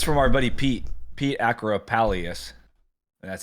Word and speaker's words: Pete Actipis: And it's from our buddy Pete Acropalius.